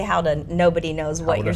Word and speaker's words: gouda: But if you say how to nobody knows what you're saying.